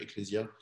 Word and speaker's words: ecclesia: s'est passé par latin on prononce exactement de la même manière ecclesia en latin et djediat en grèce